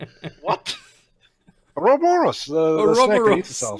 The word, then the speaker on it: Ouroboros: No, I just call that Aurora Boros. What? Ouroboros, the snake that eats itself.